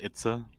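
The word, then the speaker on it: Itse: what it's a okay like i-t-s-e but it's pronounced it's a uh-huh gotcha there you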